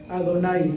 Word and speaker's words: Adonai: Porque cuando vemos nosotros en los rezos el nombre Yud-He, Vav-He, ¿cómo se pronuncia? Adonai.